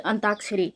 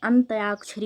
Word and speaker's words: अंत्याक्षरी: तो अंताक्षरी, अंताक्षरी में कौन सा अंत्याक्षरी होता है, अंत्याक्षरी, अंत्याक्षरी होता है। पहले हमें शुद्ध उच्चारण करना है, अंत्याक्षरी।